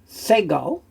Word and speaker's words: segol: Then we have a segol, a shorter E sound.